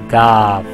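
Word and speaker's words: گاف: G is written as this, and it's pronounced like gay, gay, and it's also pronounced like gaf. So it is called gaf.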